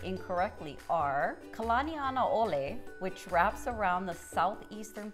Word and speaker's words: Kalanianaole: 2 other highways that are said incorrectly are Kalaniana Ole, which wraps around the southeastern part of the